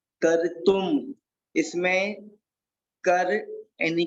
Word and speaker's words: कर्तुं: इसको रेप है ना, तो का के बाद में रेप को लेंगे और उसके बाद में तू, और तू के ऊपर एक बिंदी बिंदी लगी है तो उसको बोलेंगे, इसको माँ का उच्चारण करेंगे। तो कर तुम, कर तुम, कर तुम।